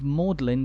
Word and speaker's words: Magdalen: the church's name is in contrast to the pronunciation of maudlin college which we saw earlier and which is